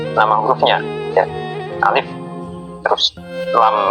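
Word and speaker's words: لام: Misalkan lam bukan dibaca la atau li, tapi ee nama hurufnya yaitu lam ataupun mim.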